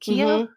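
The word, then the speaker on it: Keough: and um her daughter Riley Kio is it Kio is that how you pronounce it yeah and the name of the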